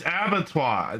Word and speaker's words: abattoir: look at the it's abattoir no the r is not pronounced I'm pretty sure Google's